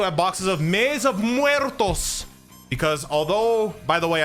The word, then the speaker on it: Muertos: although by the way I'm like one I'm like of the 1% of people that I've heard say maze of muertos. I feel like I'm like the 1% of people who say it correctly. I've heard people say maze of the mytos. Maze of mtos. Maze of mto. Like bro, it's not that hard.